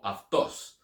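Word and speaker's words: αὐτός: Or instead of saying autos, say autos, using the Erasmian, or aftos. So putting it on the right syllable just makes it sound better.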